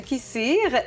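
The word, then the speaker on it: kısır: D'abord du kissir et également une recette de l'ali nazik. Oui. Oui, je l'ai bien prononcé.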